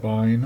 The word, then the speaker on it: bin: called bin or binary I call it Bine or bin and it contains all